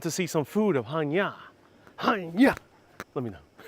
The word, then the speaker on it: Chania: a bit difference in where the accent Falls like Hanya rather than hania or hania I first pronounce it hania because that's how we're pronounce it in Spanish so sometimes it's like there's a different accent Hanya but otherwise it's very